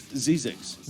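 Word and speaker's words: Zzyzx: pronouncing it right. It's Zizix.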